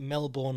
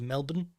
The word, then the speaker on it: Melbourne: I love your work but please do not pronounce it Melbourne like some yank the connect the correct pronunciation is Melbourne on a side note t2t was originally founded